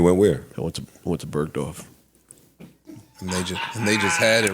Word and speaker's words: Bergdorf: I know he did some shit because he pronounced the G. Yeah. Bergdorf. Yeah. I've never heard it pronounced like that.